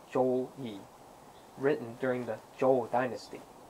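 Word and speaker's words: 周易: The I Ching is actually a historical account, and pronounced Zhou Yi, written during the Zhou dynasty.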